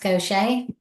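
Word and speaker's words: Gautier: That's pronounced Cosa.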